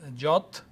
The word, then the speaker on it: JWT: So it's a key uh suggested pronunciation that one as jot whatever or jot I don't know I